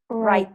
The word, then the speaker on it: write: think that'll happen yes remember we don't pronounce w it's super easy you pronounce right there right next number six